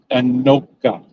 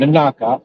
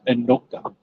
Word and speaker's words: Anoka: Now into Anoka, and that is pronounced Anoka, not Anaka, Anoka.